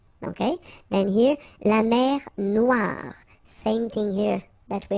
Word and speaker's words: Noire: Okay, then here, la mer Noire. Same thing here that we had previously. Final not pronounced, okay, and then OE, remember, wa, noir, noir.